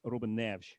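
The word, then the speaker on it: Neves: So, um Reuben Nev Ruben Nev. So, so it's um the e s at the end is this sort of soft sh sound. Um again, if you were Brazilian, same language but obviously different country, then it would be more Ruben Nevs, Ruben Nevs. Uh, and even even Ruben Nev is and even the E sometimes um a bit wider, but uh since he's Portuguese, Robin Nev.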